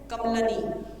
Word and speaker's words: कमलिनी: फिर है कमलनी।